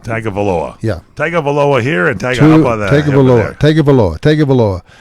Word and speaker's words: Tagovailoa: And how do you pronounce his last name? Taglia. That's it. Tagovailoa. That's it. I think you got it right. Tagovailoa. Tagovailoa.